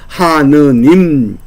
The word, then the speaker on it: 하느님: 않 로 채택이 되면서 서북 지방에서는이 아자를 어떻게 발음하는 하나님 이렇게 발음을 한 겁니다 아가 모음으로 바뀌어서 하나님이 됐습니다 반면에 서울 이남 지방에서는 이것을 아래 아를의 모음으로 바꿨습니다 그래서 하느님 이렇게 발음이 된 겁니다 그러니깐 하나님도 맞고 하느님도 맞습니다 그러면이 의로 바뀌는게 뭐냐